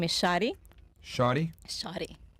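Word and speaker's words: Shary: right what's your name hello my name is shotty shotty shotty like that's your government name is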